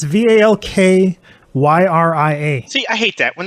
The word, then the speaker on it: Valkyria: Val, I don't know how you pronounce it. Valkyria Chronicles. It's Valkyria.